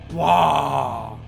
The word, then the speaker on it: Waaagh: just the fact that they just don't pronounce the G so instead of it being a walk it's more like whoa and of course a